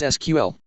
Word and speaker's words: SQL: The structured query language, or SQL, pronounced either as SQL or as the letters SQL, is the standard software tool for manipulating relational databases.